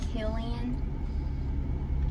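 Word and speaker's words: Cillian: I looked up and apparently you pronounce his name as Killian and is actually Irish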